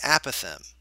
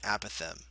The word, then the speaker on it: apothem: The new part, and this is the important part, it's the apothem, okay, or apothem. It depends on how your teacher pronounced it. Mine pronounced it apothem.